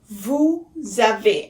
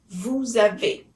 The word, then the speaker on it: vous avez: Vous avez. And again, we make the liaison. It's as if it were a one word. The S at the end of vous sounds like Z. Vous avez.